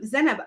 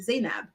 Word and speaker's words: Zainab: her name um zenab I knew someone whose name was written like this growing up but she pronounced it like the way it's written zainab so I was kind of surprised by her pronunciation I must say but